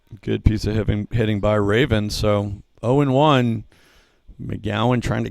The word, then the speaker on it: Raven: That's number 32, Colin Raven, like the bird, according to my pronunciation guide here. He's a junior out of Charlotte, North Carolina, Providence Day School. Raven, a 235 hitter, 8